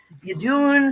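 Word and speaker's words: Iðunn: Idunn. Some people say Yadun. Some people say, Oh. you know, they have different ways to pronounce it. I say Idunn, because that's the way that I've always I've always said it.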